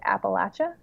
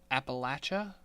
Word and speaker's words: Appalachia: deep Appalachia. Appalachia? Yeah, Okay. Appalachian Mountains. Yeah, no, I know I've never heard it pronounced that way though.